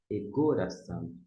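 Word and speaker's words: ἠγόρασαν: Começa com um E, não é aspirado. Se fosse o aspirado, ficaria re, mas como não é, egoração. Egoração. Aqui é a sílaba tônica, egoração.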